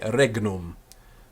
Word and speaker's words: regnum: quite hard to pronounce I prefer to keep the G sound quite strong myself I'm not completely convinced so about with with Alan um so I would prefer and I do generally say regnum but some people go